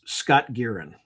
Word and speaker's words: Scott Guerin: Okay, so I did an interview with someone, and I got his name wrong on the Julian Dory podcast. So I'll get it right now. His name's Scott Guerin.